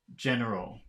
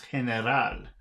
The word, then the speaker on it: general: to its English counterparts one pronunciation General General General oh so this is heneral okay General General General